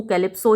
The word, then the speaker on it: Calypso: एक एन्चेंट्रेस थी, एक जादूगरनी थी जिसका नाम था CALYPSO, तो हम तो उसको कैलिप्सो ही प्रोनाउंस करेंगे, CALYPSO।